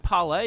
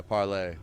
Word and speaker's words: Parley: outside the front of the bar and restaurant parlay is that how you say it is that yeah yeah parlay restaurant and sports you know we wanted to